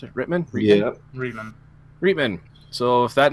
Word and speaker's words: Reitman: Is that how you pronounce it? Reitman? Yeah. Reitman.